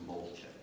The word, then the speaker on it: Molchek: I went polo in 1976, and they told me I was pronouncing my name wrong, so it's Molchek.